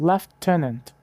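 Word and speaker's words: lieutenant: Os britânicos pronunciam Lutenant como leftant. Novamente um f que não existe na escrita.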